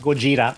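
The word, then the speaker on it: ゴジラ: america pronounces it but in japan godzilla is pronounced gojira just like comic book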